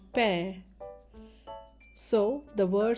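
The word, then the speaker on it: पैर: And when we add the add-on symbol pair as in pair of socks to P, it makes the sound pair. So the word sound is pair.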